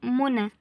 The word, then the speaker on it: منى: لان اللي من غير نقطتين دي ينه بتتنطق ا زي منى زي كلمه منى الياء هنا دي مش يا مش من حروف الابجديه دي ي بتتنطق الف بنقول منى بتنطق الف ما تنسوش ش التركيه